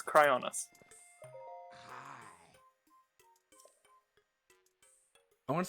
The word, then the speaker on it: Cryonis: since i said it right how do you pronounce it correctly cryoneces cryoness no it's not cryonesis it's cryoness i want to say chronesis yeah um i